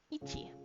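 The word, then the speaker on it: 一: Kanji reading for 1 is ichi. Ichi.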